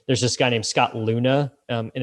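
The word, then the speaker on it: Leune: when you graduate there's this guy named scott luna um and it's spelled funny it's l-e-u-n-e who has something called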